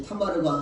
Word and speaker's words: 타마르: 이렇게 이 타마르라는 말인데 이 말은 히브리어 발음으로는 이 타마르가 하고 우리말 발음으로는 다말이라고 합니다.